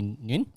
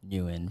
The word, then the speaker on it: Nguyen: I guess when you say him, like the Vietnamese pronunciation would be Nguyen, like wing.